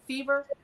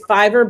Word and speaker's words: Fiverr: Is that how it's pronounced, Fever? I think it's Fiverr, but just the Fiverr.